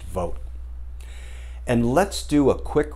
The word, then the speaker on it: Vought: guy named russell vogt it's spelled v-o-u-g-h-t pronounced vote and let's do a